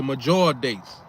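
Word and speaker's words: Medjool: M E D O O J. So the D is like silent or whatever. So it's major date.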